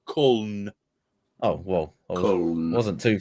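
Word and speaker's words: Köln: Cologne is pronounced Kuln or Kuln.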